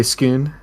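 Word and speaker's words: Scone: whatever SK skon it's spelled like skone but they say skoon yeah I can dig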